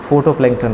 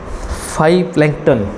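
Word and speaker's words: phytoplankton: पर प्रभाव डालता है फोटो पलटन है यहां पर स्पेलिंग मिस्टेक है करेक्ट फाइ पलटन इसको पढ़ेंगे हम इसको ये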